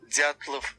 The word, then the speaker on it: Dyatlov: Dyatlov. You just gotta slur it. Dyatlov. Dyatlov. It'll sound like we went back in and dubbed it in, but it'll actually us be saying it naturally. Dyatlov.